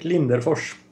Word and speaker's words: Lindenfors: Lindenfors. Okay. There you go. That's the RS is pronounced like SH.